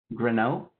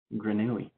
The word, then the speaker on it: grenouille: Grenot? Grenot. That's French for frog. Did I even say that right? How do you pronounce it? Grenouille.